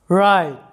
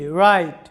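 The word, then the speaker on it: write: থাকবে যেমন উদাহরণস্বরূপ দেখো রাইট লক্ষ্য করো রাইট এখানে ডাব্লিউ সাইলেন্ট আছে কারণ ডাব্লিউ এর পরে কি আছে আমাদের আর ডাব্লিউ এর পরে আর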